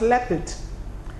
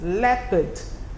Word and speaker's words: leopard: the part it becomes leopard left it and not part anyway it's leopard Leopard that's how you pronounce that word it can also remind you of the words jeopardy so the word is